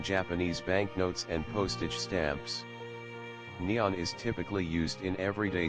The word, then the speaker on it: Nihon: The name for Japan in Japanese is written using the kanji and is pronounced Nippon or Nihon.